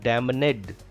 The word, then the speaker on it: damned: Damned. Damned. N is silent here. It is not damned. Damned.